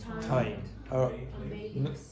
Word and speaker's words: thyme: Okay, now how do you pronounce those two words? No, thyme. Thyme.